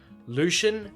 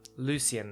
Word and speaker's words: Lucien: Actually, that's the English pronunciation. Surely not, he flints. Lucian, as the Americans would say? Oh, God no, my mother's French. Ah, Lucien then.